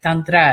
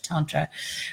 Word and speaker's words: Tantra: are from so like notice I'm using pronunciation like Dondre as opposed to Tantra right tone shows American Thunder is using the Sanskrit and I like to